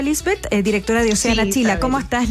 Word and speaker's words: Liesbeth: eh estamos con Lisbeth así se pronuncia Lisbeth directora deana Chila Cómo estás Lisbeth Gracias por